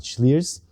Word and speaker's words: Slyrs: And they called it Slyrs, and that's how you pronounce it, Slyrs.